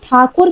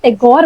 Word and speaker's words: ठाकुर: राज चलता था और ब्रिटिशर लोग जो हैं जैसे कि हमको मालूम है वो हमारी इंडियन सरनेम्स इंडियन वर्ड्स को इतनी अच्छी तरह प्रोनाउंस नहीं कर पाते थे तो ये प्रोनाउंस नहीं कर पाते थे तो ये ठाकुर की जगह उनको टैगोर बोल रहे थे इसकी वजह से धीरे धीरे धीरे करके इनकी सरनेम ठाकुर से टैगोर हो गई थी तो his real surname was Rabindranath ठाकुर।